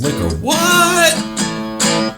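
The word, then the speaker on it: Liquor Whaat: Well, I think it's the pronunciation, right? It's Liquor Whaaat.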